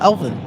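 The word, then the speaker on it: Elvan: Um, is it spelled Oh, my name is Oh, it's spelled E L V A N. E L V A N. Um, yeah. Elvin.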